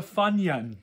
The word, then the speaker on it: Funyun: fun young are you moira we need a funyun yeah no that's exactly how you say it